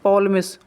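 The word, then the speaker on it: Ptolemy: रख सकते हैं इसको, पिटोलमिस। ठीक है, और नीचे देखो इसको आप पिटोलमिस मतलब या फिर पॉलमिस, ऊपर वाले को ऐसे याद रख सकते हैं, टी को साइलेंट कर सकते हो।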